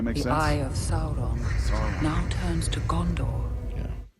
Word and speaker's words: Sauron: The eye of Sauron now turns to Gondor. Yeah. That's how you pronounce it, bro.